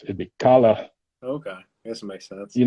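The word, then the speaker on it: Kahler: i know it's pronounced kala you say it the german way it's it'd be kala okay this makes sense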